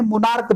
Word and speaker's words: monarch: और दूसरा एक जो नाउन है मोनार्क बोलते हैं, MONARCH होता है, CH, और मोनार्क लास्ट में क्या बोलते हैं, CH आ रहा है तो इसका जो प्रोनाउंसिएशन हो रहा है क हो रहा है,